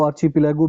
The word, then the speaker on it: archipelago: ये जो आर्कीपिलागो है इसको आर्चीपिलागो भी कहा दिया जाता है, आर्चीपिलागो भी, जो भी इसकी प्रोनाउंसिएशन है.